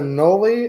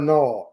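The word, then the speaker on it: anole: But is it a nole or a knoll?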